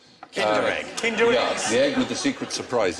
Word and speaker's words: Kinder: extra point for that actually rhymes with tinder egg kinder yeah with the secret